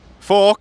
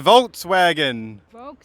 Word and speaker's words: Volkswagen: yeah That's a Volkswagen Volkswagen is a V V is ไ ม ่ ใ ช ่ โ ฟ ก No, not F V Volkswagen อ ั น น